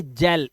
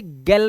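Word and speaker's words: gel: क्या है ई है इसे पढ़ेंगे जेल इसे गल नहीं पढ़ेंगे इसे गैटल नहीं पढ़ेंगे है ना या गैटल नहीं पढ़ेंगे इसे जेल पढ़ेंगे इसे जेंटल पढ़ेंगे ठीक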